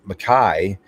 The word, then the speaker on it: MacKay: By the way, my Scottish brethren, MacKay is the way to pronounce my name in Scotland.